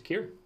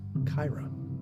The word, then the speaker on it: Kyra: Brings us to Kier or Kyra. So, just a quick in-show actually. Hit me. I Pathfinder wikied Kyra, Yeah. and it is pronounced Kyra.